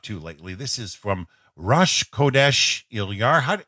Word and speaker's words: Rosh Chodesh: he's been up to lately this is from Rush qodesh Hillyer huh how do you pronounce that rabbi called it yeah very Rosh Chodesh now now this is practicing a safe social